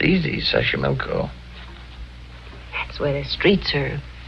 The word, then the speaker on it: Xochimilco: So you pronounce it better than I do. It's easy, Xochimilco.